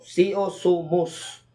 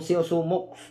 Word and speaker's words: Xiuxumux: So, ang spelling po dito sa pagkakasulat ay Xiuxumux. So, kaya pag binasa ninyo ito, ang tamang pagbaybay at pagbigkas ng orasyon ay Seo Sumus. No, hindi po yung Seo Sumux.